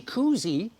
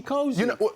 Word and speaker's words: cozy: It's not a tea koozie. It's a tea cozy.